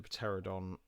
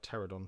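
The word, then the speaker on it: pteranodon: and you can see the pateradon uh pterodon sorry not pateron always pronounced the silent p um stood uh there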